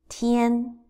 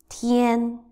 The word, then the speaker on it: 天: First one, Tian. First tone, Tian, Tian, Tian, Tian.